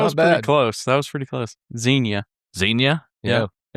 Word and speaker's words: Xenia: I'll spell it for you and take a stab at it. All right. Xenia. Xena. Close. That's that not was bad. pretty close. Xenia. Xenia.